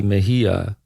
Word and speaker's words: Mejia: I did it in the Italian pronunciation, which I'm used to since I'm Italian, but instead of the Spanish, I think, pronunciation.